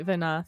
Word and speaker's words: Venat: It's not Venat, incidentally. We did hear it pronounced in the cutscene, and the T is not pronounced.